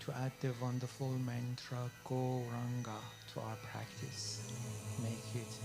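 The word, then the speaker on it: Gauranga: add the wonderful mantra go ranga to our practice make it a full meditation practice goranga has four syllables the golden lord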